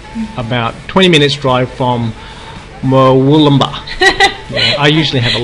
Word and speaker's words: Wollumbin: And it's on Mount Warning Road, about 20 minutes drive from Wollumbin. Yeah, I usually have a lot of difficulty with those names. So I grew up around this area, so it's Wollumbin, but anyway.